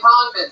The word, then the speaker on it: Congdon: Kimberly Congdon, spelled like it sounds, C-O-N-G-D-O-N.